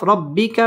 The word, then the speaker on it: ربك: বিনিআমাতি রা পুর হবে রব্বি বা তাসদীদ ওয়ালা হরফ রব্বিকা ফাহাদ্দিদ আল তাসদীদ ওয়ালা হরফ ফাহাদ্দিস এখানে ওয়াকফ করতে হবে ওয়াম্মা বিনিআমাতি রব্বিকা ফাহাদ্দিস ওয়াম্মা বিনিআমাতি রব্বিকা